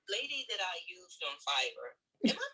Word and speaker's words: Fiverr: though because the lady that i used on fiverr am i pronouncing that right is it fiber yes it is fiber okay so i specifically wanted a woman because